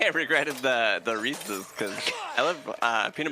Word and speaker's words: Reese's: They They were like, "Okay, it's Reese's pieces." Cuz Reese's rhymes with pieces.